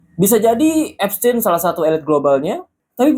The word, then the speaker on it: Epstein: Nah, bacanya itu sebenarnya abstin bukan Abstain.